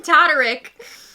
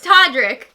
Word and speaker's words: Todrick: between us so toddrick why are you using todderick i don't know because it's it's todrick he just pisses me off i'm sorry i don't know but i have to add an extra syllable because i'm extra angry well anyway they hung